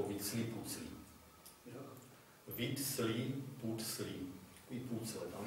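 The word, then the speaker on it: Huitzilopochtli: A on tvrdí, že se to vyslovovalo nějak podobně jako Vítsli Pucli.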